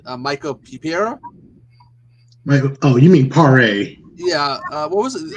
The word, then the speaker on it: Paré: I always got his last name wrong. He was in Camp Pleasant, Michael Pipiera. Oh, you mean Paré?